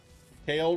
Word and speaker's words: Kale: Kale rhymes with jail.